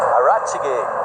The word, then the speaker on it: Arachige: That's not how to say it. Arachige. That's it. You're adding an extra itch. You've got an extra itch. I was just checking you there, Russell. So no more itch.